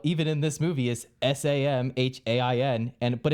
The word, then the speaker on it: Samhain: Yes, they like at some point bring up the idea of, in quotes, Samayan, and I was like, actually it's Samhain.